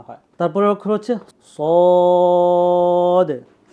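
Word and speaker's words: ص: আসবে ঠিক আছে সদ সদ সদের উচ্চারণটা অনেকটা সিনের মতই কিন্তু সদের উচ্চারণটা এটার সিফাত ভিন্ন।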